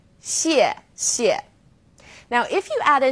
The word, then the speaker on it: 谢谢: You can think of it kind of like the word she and she. Not too hard, right? 谢谢.